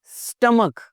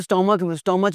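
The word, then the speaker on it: stomach: Chaos, take, स्टमक, पेट, मैदा। और जी इसके स्टोमच में दर्द हो रही है।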